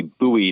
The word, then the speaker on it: Bowie: pronunciation good question so technically it's supposed to be buoy knife which is the the different pronunciation than the singer but a lot of